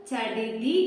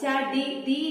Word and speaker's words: ചടിതി: പക്ഷെ അത് അങ്ങനെയല്ല ഉച്ചരിക്കുക. അത് ചെറിയൊരു ക്ലിയറൻസ് ഉണ്ട്. ചടിതി എന്നാണ് അത് ഉച്ചരിക്കുക. ഓക്കെ, നിങ്ങൾ ചാൻസി റാണി എന്ന് കേട്ടിട്ടില്ലേ? നിങ്ങൾക്ക് സ്വരാക്ഷരങ്ങളിൽ ഈ ഒരു അക്ഷരം വരുന്നുണ്ട്. അപ്പൊ അത് ച എന്നുള്ള ഉച്ചാരണമാണ് വരുന്നത്. അപ്പൊ അതില് ചടുതി എന്നാണോ ചടിതി എന്നാണോ ശരിക്കും ഉച്ചരിക്കുക? ഏതാണ് അതിൽ കറക്റ്റ് ആയിട്ടുള്ളത്? നിങ്ങളുടെ പാഠഭാഗത്തിലുള്ള വാക്കാണ്, നിങ്ങൾക്ക് അറിയാം ഏതാണ്. അതെ, രണ്ടാമത്തെ വാക്കായിട്ടുള്ള ചടിതി, ചടിതി എന്നുള്ളതാണ് അതില് കറക്റ്റ്. മനസ്സിലായല്ലോ?